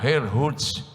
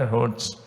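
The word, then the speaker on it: Herrnhut: Zinzendorf, num lugar chamado Herrhut. Eu não falo nada de alemão, por isso a pronúncia é portuguesada, mas é Herrhut. É por aí.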